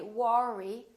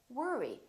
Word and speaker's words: worry: to work or worry don't say War II say worry don't worry another one